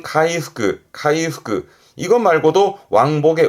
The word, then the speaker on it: 回復: 발음은 카이후크, 카이후크.